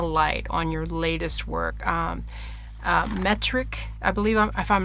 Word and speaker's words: Meteoric: Meteoric, I believe, if I'm not pronouncing that right, please let me know. Meteoric. Oh, Meteoric.